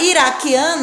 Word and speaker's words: iraquiano: Nós não falamos a vogal U, esqueleto, nós só pronunciamos o que e o E na palavra iraquiano, a mesma coisa, só pronunciamos que e o I, certo?